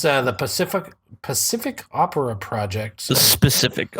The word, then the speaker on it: Pacific: Pacific, but every time you say it, I think specific, and you're mispronouncing it.